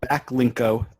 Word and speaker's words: Backlinko: there's a site called backlinko um it's like backlink with an O at the end that's the way to